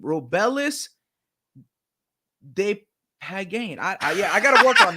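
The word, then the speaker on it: Despaigne: Now, how would you pronounce his name? Robelis Depagnane. Depagnane.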